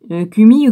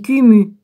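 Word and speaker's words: Koumi: Cumi ou cumu? Non, c'est cumu. Prononcé presque comme omnu, commu. K-O-M-U.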